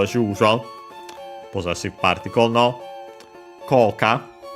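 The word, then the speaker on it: 効果: Koka, effect. This we have seen before. It's Chinese compound accent on the first mora.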